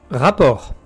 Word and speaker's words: rapport: Rapport. Attention, rapport, on ne prononce pas le T.